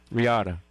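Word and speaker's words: Reatta: Regatta.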